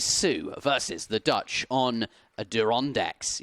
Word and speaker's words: Adirondacks: versus the Dutch on adirondacks you're supposed to say the R on adirondacks we're being told that's